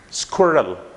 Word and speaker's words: squirrel: It just have only 1 syllable, and that is squirrel. Squirrel. Squirrel. Okay, it's not squirrel, it's not squirrel, but squirrel. Squirrel. Okay, you have to actually take away the sound of S, like is.